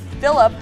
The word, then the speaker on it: Philip: through the neutral zone, and Philip, not Philippe, because I did mispronounce that in practice, gets on the corner of the net, doing beautiful, making it 4-3.